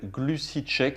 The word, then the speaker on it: GluciCheck: Je vais vous demander de télécharger une application qui s'appelle GluciCheck. C'est une application gratuite sur votre smartphone. Donc ça s'écrit G-L-U-C-I espace check, comme en anglais check.